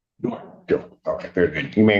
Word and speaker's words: Doran: Spelling on the last name is D-O-R-A-N. And it's pronounced Doran. Duran.